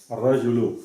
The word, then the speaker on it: الرجل: What we have at the end, though, the vowel at the end. Lu. Right. Raju, Ra. Which would be the correct phonetic. Al-Rajulu.